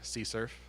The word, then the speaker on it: CSRF: flask - CSU RF but it's spelled funny see surf and this is all